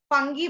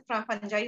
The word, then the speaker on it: fungi: फंगी बोल लो, फंजाई बोल लो, correct pronunciation वैसे फंजाई होता है।